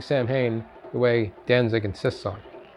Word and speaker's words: Samhain: Kudos to her, by the way, for pronouncing Samhain the way Danzig insists on.